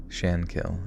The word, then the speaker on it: Shankill: like that Sean kill the stress is on the first symbol with Shan sounding like can Shan kill okay in the aftermath